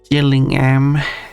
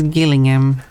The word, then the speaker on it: Gillingham: quite south in England you have a place known as Gillingham and another place known as Gillingham or something like that. Exact same pronun exact same spelling different pronunciation.